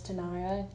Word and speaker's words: Tania: um my name is Tanaya it's spelled t a n i a and it's not pronounced in any kind of foreign language I know I get